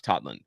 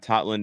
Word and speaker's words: Totland: I called him Totland last year. I thought it was because of that's a lot of Norwegians. They pronounce the O, like the actual O. But no, apparently it is Tomas Totland.